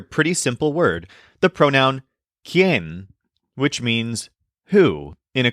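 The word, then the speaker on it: quién: simple word the pronoun Ken which means who in a question this is spelled q i n but the U is silent and there's an accent mark on the E Ken the easiest way to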